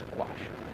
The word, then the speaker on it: gouache: Anyway, yes, it is gouache. It could be gouache, but it's not. It's gouache.